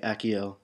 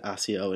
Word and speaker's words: Accio: I've decided to be correct and say Akio the way it was apparently supposed to be said when ring wrote the books um for those of you who don't know I used to always pronounce it AIO in my head so I decided to